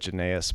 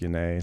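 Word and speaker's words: Yannai: I always said Janaeus, but apparently it's pronounced Yane, so that's why I say it Okay.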